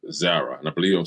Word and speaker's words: Zara: But the name of the store is called Zara, and I believe I'm saying it correctly, Z-A-R-A.